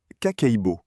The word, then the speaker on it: kakeibo: La première habitude s'appelle kakeibo, prononcé ka-kei-bo.